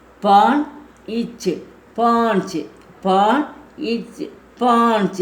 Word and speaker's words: पांच: தோ दो 2 तीन तीना तीन तीना तीन 3 शारा शार शारा शार 4 पान इच पांच पान इच पांच இது வந்து மூக்கில் உச்சரிக்கணும், சந்த பிந்து இருக்கிறனால. பா இன்ச் பாஞ்ச் 5 சக ச ஹ சக.